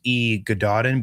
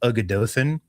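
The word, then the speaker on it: Y Gododdin: the pronunciation of it, but it looks like E Gododin, but it's pronounced Ugadothin, and it's a series essentially of elegies for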